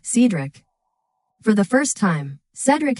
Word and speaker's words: Cedric: This same episode is where Sophia actually pronounces his name right, Cedric, instead of Cedric.